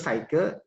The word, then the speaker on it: psyche: Psikologi sendiri berasal dari bahasa Latin, yaitu psyche, ya tulisannya psyche, gitu ya. Psyche dibacanya, dan logos.